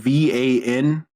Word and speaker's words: Vanthampur: So Van Thamper is VanThampur.